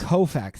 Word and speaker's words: Koufax: a beautiful tradition ranging from Moses to Sandy Koufax. Koufax. Thank you for helping me with that pronunciation.